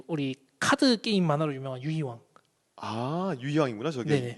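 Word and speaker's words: 遊戯王: 그 밑에 이제 우리 카드 게임 만화로 유명한 유이왕. 유희왕이구나 저게. 네네. 유기호. 네. 일본어로 유기호라고 읽더라고요.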